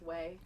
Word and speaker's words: Hue: And So it's pronounced way.